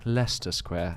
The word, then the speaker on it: Leicester Square: square it was like no no no darling it's pronounced leicester square i was like we've